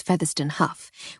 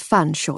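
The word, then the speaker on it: Featherstonhaugh: said with a curtesy I made my usual point of mispronouncing it as featherston Huff which in turn drew his usual ual raised eyebrow and slightly sad smile it's fun Shaw you silly girl as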